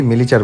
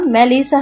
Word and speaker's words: মেলিসা: চিৎকার করে আদনান বলে, এই মেলিচার বাচ্চা ওটা মেলিচা না মেলিসা হবে মূর্খ কোথাকার সিরিয়াস